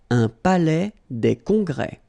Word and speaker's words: palais des congrès: Final S here and here are not pronounced. Un palais des congrès.